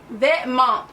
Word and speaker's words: Vêtements: It is Vêtements? Vêtements is the correct pronunciation.